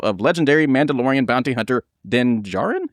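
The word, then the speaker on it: Din Djarin: They have enlisted the help of legendary Mandalorian bounty hunter Denjaren. Is that how you say it? Denjarin. Djarun. Nailed it.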